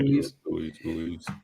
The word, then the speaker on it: Ruiz: He might be able to beat Ruiz. Am I saying it right? Mm-hmm. Yeah, Ruiz.